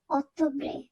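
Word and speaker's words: ottobre: ত উচ্চারণ করব সেত্তেমব্রে অত্যব্রে এখানেও ডবল টি আছে এখানে আমরা ত এর মত উচ্চারণ করবো অতব্রে ডিচেমব্রে এখানে সবার প্রথমে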